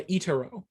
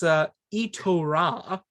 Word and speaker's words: Itorah: think it's very I just realized I've been mispronouncing the title. It's Itorah. I've been calling it Itorah. See, it looks very pretty and very I was replacing the A and the O.